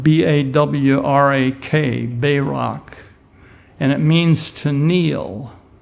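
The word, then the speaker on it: בָּרַךְ: The Hebrew word for blessed, if you look at the definition in Strong's 1288, it's spelled B-A-W-R-A-K, Barak, and it means to kneel.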